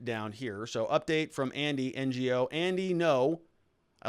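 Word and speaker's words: Andy Ngo: So update from Andy, NGO. Andy, no. I like to say NGO. I like to say Andy, NGO. I know it's Andy, no.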